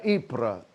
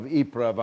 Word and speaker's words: Ypres: first wife had been blinded by gas at uh ibrah the battle of iprav i'm pronouncing it properly ypres uh and uh so